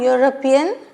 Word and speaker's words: European: But he is an European. Why? What's wrong? European is pronounced as U.